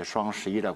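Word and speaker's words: 双十一: 그걸 중국 발음으로 이제 슈앙11이라고 그러는데, 관군제는 이제 93년도로 거슬러 갑니다.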